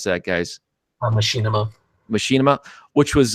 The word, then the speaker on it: Machinima: These guys from Machinima, how do you pronounce that, guys? Machinima.